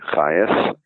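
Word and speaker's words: Chajes: my name is Hayes well I should say that's one of my names because uh you can't probably spell the name just from hearing it so I should tell you it's spelled c-h-a-j-e-s the only place I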